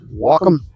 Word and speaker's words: Wacom: They pronounce it whackom, wacom, whackom, whackom.